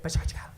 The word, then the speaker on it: PechaKucha: okay what is petrushka Pecha Kucha it doesn't matter how you say it it's bachata Pecha Kucha the Japanese kind of say it fast they say by cha cha it's not mystery bachata